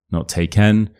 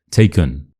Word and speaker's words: taken: So it's not e or e, it becomes a. For example, taken taken, not taken, taken.